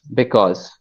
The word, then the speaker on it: because: There is one more that I found with you, and it is about the O sound. It is actually aw, because. Okay, say because.